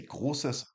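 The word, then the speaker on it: großes: I will say gsus and then the letter. So if I wanted a big B or capital B, I would say Gausses B.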